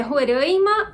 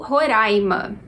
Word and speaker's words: Roraima: acesso para tudo certo a pronúncia correta é Roraima ou Roraima aqui a gente tem um caso de pronúncia opcional por quê Porque ela varia dependendo da região então nessa região se você for conversar com as pessoas você vai saber que elas pronunciam Roraima não sei dizer se